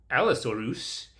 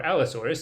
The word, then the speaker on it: Allosaurus: So, uh going along with that theme, they also see Stegosaurus and Allosaurus, or also Stegosaurus or Allosaurus, if you want to use the more common, more boring pronunciations.